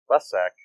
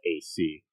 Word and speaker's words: Lessac: Michael Lesek, I don't know if I'm saying that right. It's Lessac.